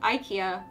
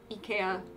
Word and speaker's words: IKEA: sweden were like wow japanese people pronounce it almost the way that it's supposed to be pronounced americans pronounce it ikea which is not accurate